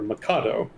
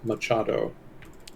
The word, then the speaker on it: Machado: the correct pronunciation is Machado. Ooh. My mistake. So thank you for the correction. I'm kind of used to transliteration rules having the CH combination be used for the K sound.